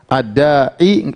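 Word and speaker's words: الداعي: Harusnya di sini ada yu. Ad-da'iyu harusnya ada di sini da'iyu. Tetapi orang Arab susah untuk bilang ad-da'iyu. Jadi ini dianggap tidak ada, tersembunyi. Jadi bacanya tetap ad-da'i.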